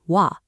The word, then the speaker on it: は: If you've studied hiragana, you know this character is normally pronounced ha, but when it functions as a grammatical particle, historical sound changes mean we pronounce it wa.